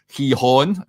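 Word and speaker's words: Gijón: Um Oscar Cortez of course is on loan at Sporting Hehon, as it's pronounced.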